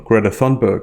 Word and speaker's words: Greta Thunberg: And in Greta Thunberg's speech, or Greta Thunberg as I'll pronounce her name in English, there's a lot to look at beneath the surface.